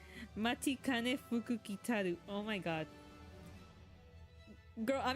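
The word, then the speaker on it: Matikanefukukitaru: I am not leaving this until I find out how to pronounce her name. Matikane Fukukitaru.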